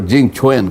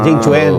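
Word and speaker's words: Jing Quan: Q u a n pero hindi kuan ang pronunciation oo ang pronunciation Chwen Chwen ah Jing Chen Chen Jing Chen ayun Jing Chen your excellency ambassador Jing Chwen mo huwag mong sasabihin kan Jing Chwen Oo baka magalit.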